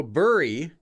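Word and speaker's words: Bury: bur St Edmonds interesting why don't they just spell it like b r r e y then you'll say it as bur instead they spell it as Barry the the English word Barry I don't know I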